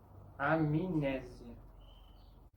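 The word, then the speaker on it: amnésia: Por ejemplo, la palabra amnesia no va a sonar como amnesia, ni como amnesia, con una M sin vocal. Tiene sonido como si hubiera una I entre la M y la N. Amnesia. Generalmente la letra M nasaliza la vocal anterior.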